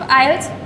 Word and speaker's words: IELTS: Can anybody tell me what is the full form of IELTS? Yes. One more important question. What is the correct pronunciation of IELTS? Yes, it's IELTS, not IELTS. Many people speak IELTS. T is silent here.